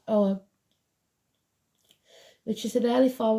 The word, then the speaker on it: Ogham: It shows the symbol of the Ogum, pronounced Ogham, which is an early form of Irish writing, so Ireland could be important.